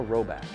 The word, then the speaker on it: Rhoback: possible get them a robot that's spelled r h o b a c k and we have a